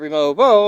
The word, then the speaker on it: Renovo: That's why it was called Renovo, because Renovo, somebody mispronounced Renova, and they said Renovo, and it's stuck.